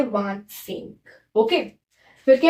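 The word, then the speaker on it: vingt-cinq: 25 को बोलते हैं वांत सेंग। क्या बोलते हैं? वांत सेंग। इसको व, इसको सेंग साथ में मिला के इसको बोलते हैं वांत सेंग।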